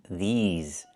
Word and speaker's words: these: I need the long E like green beans. These. Plus the Z sound like in zebra and zipper.